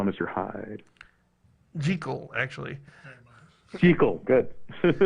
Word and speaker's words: Jekyll: Jekyll and Mr. Hyde. Jekyll, actually.